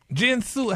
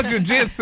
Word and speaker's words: jiu-jitsu: Jinsu, how you pronounce that word? Jinsu? What's that fighting? Kitsu? What's that? Jiu-jitsu? Girl, jiu-jitsu.